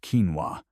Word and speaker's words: quinoa: If you've ever wandered down the health food aisle at the grocery store, you've probably seen little bags of quinoa, pronounced quinoa, sitting next to rice or oats.